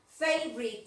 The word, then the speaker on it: favorite: Ojo al pronunciar favorite. Mira, favorite. F favorite, en dos partes nomás se dice esa palabra, ¿eh?